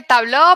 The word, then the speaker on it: Tableau: pronuncia Natalia cuéntame tú es muy relativo en realidad se supone que tablo pero no hay necesidad